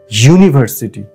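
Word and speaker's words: university: এটা কিন্তু ইউ না এটা ইউ এরকম উচ্চারণ হচ্ছে যে ওয়াই দিয়ে শুরু হচ্ছে ইউ মানে তুমি তাইতো ওয়াই ও ইউ মানে তুমি এই শব্দটাও কিন্তু ওরকম ভাবেই হচ্ছে ইউনিভার্সিটি ওয়াই দিয়ে সেজন্যেই এর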